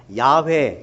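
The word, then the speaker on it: Yahweh: 영화 어 영원한 달하는 이제 좀 더 원어에 가깝게 발음을 하자면 은 야외 야외 라고 하시는데 하나님께서 모세에게 어 자신을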